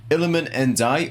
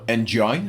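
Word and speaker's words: Iliman Ndiaye: Iliman Ndai, or Njai, as some people have been saying for some reason, even though it's a D, not a J.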